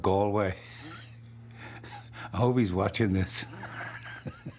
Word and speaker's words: Galway: He got my name wrong. He said Galway instead of Galway.